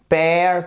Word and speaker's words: pair: Pair, pair, pair. Vous voyez? Et pourtant, on a AI, A et EA. Ouh. Et ça se prononce comme ceci en phonétique, qui est le E.